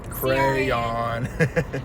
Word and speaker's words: crayon: No, just one syllable. Crayon.